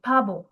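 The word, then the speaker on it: 바보: So when P comes in this sound comes in the first position, it is pronounced with a P sound. But when it comes in second position, pronounced with a B sound.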